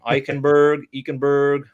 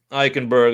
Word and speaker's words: Eichenberg: Oh, man, I never really practiced pronouncing his last name. Eichenberg. Please correct me. Eichenberg.